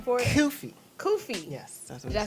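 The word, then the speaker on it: kufi: I don't know the actual name for it kofy kofy yes that's did I say it right yeah well I just it right after me kofy all right moving on can you explain why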